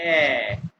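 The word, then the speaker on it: ä: और ये इसको कैसे प्रोनाउंस करते हैं? इसको कहते हैं ऐ।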